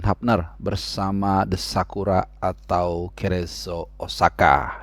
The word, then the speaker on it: Cerezo Osaka: Dan juga tentunya penampilan Justin Hubner bersama The Sakura atau Cerezo Osaka. Ini kalau bacanya cepat jadi kayak Crazy Osaka ya. Jadi Cerezo Osaka ya, gua tahu bacanya seperti itu.